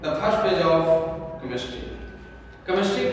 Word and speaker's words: chemistry: तो जब CH से जब इसकी उच्चारण हुई है, प्रोनाउंसिएशन में CH का मतलब क होता है। आखिर ऐसा क्यों? हम सब लोग इंडियन लोग यही जानते हैं कि केमिस्ट्री में CH का मतलब